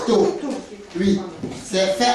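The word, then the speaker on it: tô: Ça s'appelle le taux, ça s'écrit T-O. C'est T-O, taux.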